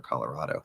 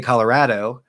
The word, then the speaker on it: Colorado: Colorado or Colorado. This one, I say raw, Colorado. People who say Colorado sound to me like